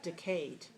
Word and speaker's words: decayed: the word in speech decayed decayed how many syllables two where is this dress two all right now where